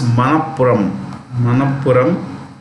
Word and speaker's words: Manappuram: Manappuram Gold Company, yes, Manappuram Gold, it's pronounced Manappuram Gold Finance, it comes from Thrissur.